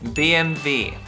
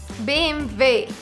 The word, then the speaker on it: BMW: Now, the correct pronunciation is BMW. BMW. You literally just say the 3 letters in German.